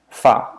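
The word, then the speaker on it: fard: C you pronounce it, D you don't. Like fa, which is a type of makeup, F-A-R-D.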